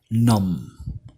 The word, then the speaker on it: numb: The next one is numb. The B is silent. The B is silent. Numb.